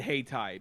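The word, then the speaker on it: Hayti: Hat Thai spelled like Haiti. Um but sp but but said hey tai because it's from here.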